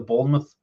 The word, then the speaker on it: Bournemouth: Bournemouth.